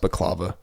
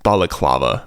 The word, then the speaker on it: balaclava: I believe it's pronounced Bava pause podcast hey what's up everybody I'm just going through editing this so me and Ash forgive us we totally butchered the word balaclava balaclava is the thing